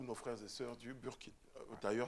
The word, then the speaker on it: Burkina: frères et sœurs du Burkina. D'ailleurs, à ce propos, je m'apprête à vous le dire. Dites Burkina Faso. Burkina. Le Burkina. Burkina. Voilà, dites Burkina. Burkina. Voilà. C'est écrit Burkina, mais c'est Burkina.